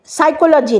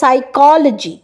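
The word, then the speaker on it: psychology: সাইকোলজি, সাইকোলজি না, কথাটা সাইকোলজি, কয়ের ওপরে স্ট্রেস আছে।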